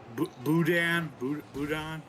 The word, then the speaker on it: boudin: Boudin.